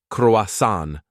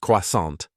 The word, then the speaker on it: croissant: means crescent fun fact locals rarely pronounce The tea say croasan not quasant ui ro said handing over the money.